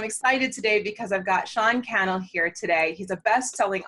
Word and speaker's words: Cannell: I said it wrong again, Cannell.